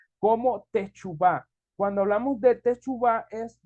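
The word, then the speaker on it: תשובה: significa eso se escribe o se Perdón se pronuncia como techubá cuando hablamos de techubá es volvernos Atrás o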